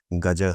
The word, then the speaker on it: गज: संस्कृत में गज को हाथी को हाँ, गज कहते हैं, पर सही प्रोनाउंसिएशन भी गजह है। तो हाँ, सब अंग्रेजी में लिखें तो आगे ए जोड़ना पड़ता है।